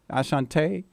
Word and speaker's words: Asante: it asan asant Asante yeah how do you say your name it's a Sante like the tribe the tribe of Sante by your roots yo big up man